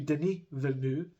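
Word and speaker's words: Villeneuve: screen um but yeah Denise Vu again I looked up how to pronounce that because it was such a strange one he actually think I think he pronounces it Deni so maybe Deni venu um he pulls it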